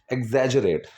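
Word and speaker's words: exaggerate: Pronunciation क्या है, एग्जैजरेट, ग नहीं जो.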